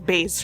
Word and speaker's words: bass: or it's not bass bass is the fish it's base right I am an embarrassment